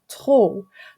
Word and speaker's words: trop: We also have P is usually silent at the end of a French word, like in trop, but we pronounce it at the end of top.